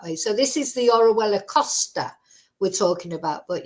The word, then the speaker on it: Orihuela: maybe about a they can't pronounce it it's orella orella it's pronounced but uh you know people have a